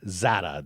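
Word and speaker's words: Czata: Ethan Zada. The C is silent.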